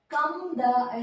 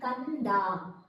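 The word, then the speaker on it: ಕಂದ: But here kamba is right, but kamda is wrong. Instead, you will pronounce this as not with a yum but with a yan. It should be kanda, not a kamda.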